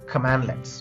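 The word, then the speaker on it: cmdlet: in Powershell commands are called as commandlets pronounced as command hyphone let so if you want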